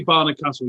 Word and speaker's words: Barnard Castle: a's to barnard castle it's clearly barnard castle you don't have to add extra vowels into the pronunciation no it isn't castle